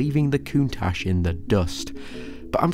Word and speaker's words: Countach: right this entire video is Countach nice and elegant not contact for obvious reasons you